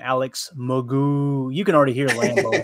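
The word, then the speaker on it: Alex McGough: and he does say, yeah, I pronounce his name Alex Magoo.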